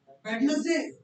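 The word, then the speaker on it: Wednesday: We have a word the first word is वेडनेसडे इसका क्या है? टी फ्लैट साउंड टी की pronunciation नहीं होगी।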